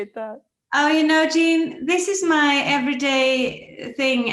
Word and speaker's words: Jean: thank you so much so gene is correct is how my